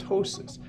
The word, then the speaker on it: ptosis: this is called ptosis protip silent P called ptosis her left window needs